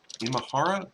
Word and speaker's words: Imahara: poor grant we get his name right Grant Imahara granite in in Mahara I was saying it